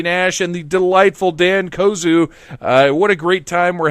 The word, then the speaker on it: Kozuh: I'm sorry, it's pronounced Kozuh, not oh shit.